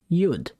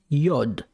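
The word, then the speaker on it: יוד: good letter number ten you'd the letter you'd sometimes people call it yod why i have no idea but whatever everyone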